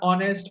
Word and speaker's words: honest: So, guys, we all know that in these words are honest, honorable, heiress, okay, honorary, the H is silent, and the dominant sound is of O.